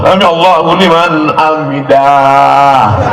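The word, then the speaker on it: سمع الله لمن حمده: Sami Allahu liman hamidah. Bacanya pendek. Sami Allahu liman hamidah. Ini ada yang imam ini panjang. Sami Allahu liman hamidah. Ada alif di situ. Kan pendek. Sami Allahu liman hamidah.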